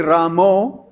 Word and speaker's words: राम: यह ठीक नहीं है the tendency to see that हरे रामो इज in Bengal waste Bengal तो सामान्यता बंगाली भक्त इस प्रकार से उच्चारण किया करते हैं। सो we should we should not डू S much S possible we should be हरे रामा हरे रामा हरे राम हरे रामो तो जैसे स्वाभाविक उच्चारण निकलता है हमको मुख से वैसा ही करना चाहिए बंगाली भक्तों की नकल नहीं करनी चाहिए और व्हेन वी सिंग